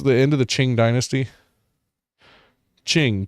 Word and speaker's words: Qing: Ching. Q I N G. Okay. That's literally how it's pronounced.